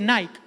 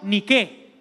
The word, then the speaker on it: Nike: La marca Nike no se dice Nike, esos son los gringos que no saben hablar, se dice en griego Niqué.